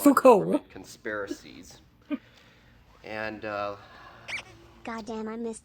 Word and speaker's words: Foucault: This is practically It's pronounced Foucault.